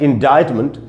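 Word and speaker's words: indictment: word है वो इनडायरेक्ट यह देखने में तो ऐसा लगता है की इन डिफरेंट हो जीआईसी है तो लेकिन इसका उच्चारण होता है indirectment और इसका अर्थ है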